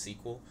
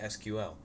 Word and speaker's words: SQL: it up credo says SQL is typically pronounced sequel see that's what I thought when I walked into the class I thought they would say sequel a lot but quite often do we say SQL so I guess it's